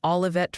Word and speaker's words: Olivet: And by the way, the Pronunciation Council has decreed it's Charlotte for Charlotte and Olivet for Olivet.